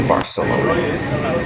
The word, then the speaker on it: Barcelona: the video, is because that is how the locals that live in Barcelona say Barcelona. According to Baselang Bites, King Ferdinand spoke with a lisp, so Spanish people adopted this distinct, pronunciation out of respect and to please their king.